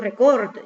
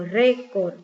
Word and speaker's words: récord: Yo no digo record, yo digo récord.